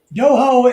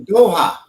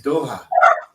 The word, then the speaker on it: Doha: Doho is the capital city of Qatar. Damn. Oh yeah. No, Doha. I know you said it wrong. It's Doha.